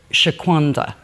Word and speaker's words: Shaquanda: food so the name of your product is Shaquanda right did I pronounce that correctly correct yes so who is